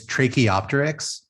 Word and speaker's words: Tracheopteryx: It's Tracheopteryx, but Trach for short is fine. It's as must be obvious, it's a combination of a trachea and the Archaeopteryx.